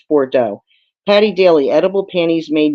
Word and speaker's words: Bordeaux: Bordeaux okay thank you I don't know why I didn't pronounce that right the first time but that is it's Bordeaux Patty daily edible panties